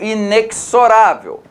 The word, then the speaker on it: inexorável: Vindo para cá, eu pronuncio paradoxal e pronuncio inexorável. A minha pronúncia do inexorável é com esse CS também, né? Inexorável.